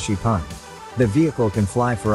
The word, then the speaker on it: XPeng: car that can fly the company calls it Spang pronounced shipon the vehicle can fly